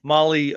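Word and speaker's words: Mahle: And uh for everybody listening to this, Molly is spelled M Ah L E. Molly M O L L Y Motorsports is a completely different thing.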